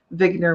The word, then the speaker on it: Wigner: balls or spheres um vigner would be the way Eugene vigner would have pronounced it and basically he was